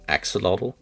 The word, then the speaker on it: axolotl: I actually had to, I looked it up just to be sure the other day, how to pronounce axolotl.